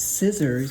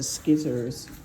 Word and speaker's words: scissors: That's how I used to pronounce it before I knew the correct pronunciation was scissors. I used to call it skizzers.